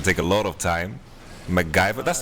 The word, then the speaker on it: MacGyver: It's supposed to be MacGyver, of course, right? Yes, but yes. when he was a child, he couldn't pronounce it. So, because he couldn't pronounce it, ends up being Magvaya.